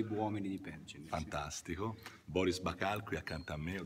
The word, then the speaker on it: Boris Bakal: Boris Bacal qui accanto a me, ho detto bene la pronuncia?